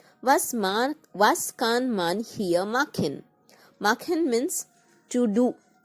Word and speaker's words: hier: Okay, here means here, H-E-R-E, here. The pronunciation is here. Here sound should come little. Was kann man hier machen?